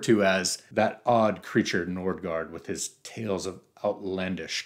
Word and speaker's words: Nordgard: It's spelled with the two A's that represent the A with the, what is this, circle? I can't remember. So the Scandinavian A with the circle that makes that O sound, like Knosgård or Tarje Vesuls or Kierkegaard.